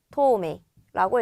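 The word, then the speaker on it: 半透明: 그래서 한토메이라고 읽어주시면 돼요. 한토메이나 한토메이노 카렌다 시로 아이오 시테이르가 되겠습니다. 정답은 3번이 되겠고요. 똑같이 한이라고 읽지만 아까 전에 한번 나왔어요.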